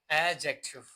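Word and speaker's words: adjective: सो आपको पता होना चाहिए कि ए और जे के दरमियान जब भी हमारे साथ डी आता है तो वो साइलेंट होगा। यह एडजेक्टिव नहीं है। यह हमारे साथ क्या है? एडजेक्टिव। क्या है? एडजेक्टिव। ठीक है ना? एडजेक्टिव नहीं बोलना।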